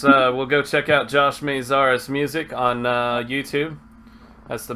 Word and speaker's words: Maziarz: It's Maziarz, long A. Oh, I said it wrong. Maziarz. Easier. Not RS. You're close. AZRs. Maziarz. Just Maziarz.